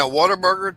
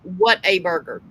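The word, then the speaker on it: Whataburger: burger uh yeah he's he's saying what a burger the way it's spelled on the sign but um yeah when you're Southern it's slurs and it's Water Burger yeah and that's yeah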